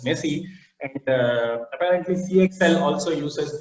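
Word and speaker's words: MESI: messy protocol in esi which is pronounced as messy and apparently cxl also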